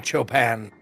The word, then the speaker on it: Chopin: It's Frederick fucking Chopin. It's pronounced Chopin.